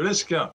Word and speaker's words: Lesquen: De Lesquen, on prononce de Lesquen.